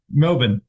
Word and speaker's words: Melbourne: ceases to amuse an Australian in how North Americans say the word Melbourne but uh what's the prop way Melbourne it's that that but the um the Melbourne